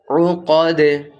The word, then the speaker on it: العقد: নাফাসাতি feel উকাদ feel উকাদ আইন আছে, উকাদ।